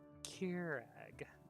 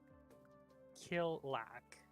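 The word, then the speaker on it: Kjerag: of this with losses it's Keurig not kill lack Mr Harrison oh ah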